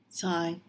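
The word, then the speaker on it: 菜: The word for cabbage Sai. has the same pronunciation as the character for Money or wealth.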